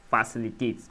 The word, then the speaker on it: facilitate: Facilitate. A common rule of thumb for words ending with it with three or more syllable is that the stress often falls on the third syllable from the end.